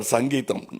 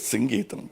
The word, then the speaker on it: Geetham: For once and all, in Kodambakam there was always a confusion how to pronounce his name. In Tamil Nadu, he used to get very upset because say, Mr. Sangeetham. No, it is Geetham, please.